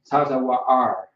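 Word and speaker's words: צוואר: The word is tazawa'ar. Wa'ar. Tazawa'ar. Tazawa'ar is how you pronounce it. All right. The taza is by itself. The wa is by itself, but the and the ra are connected together.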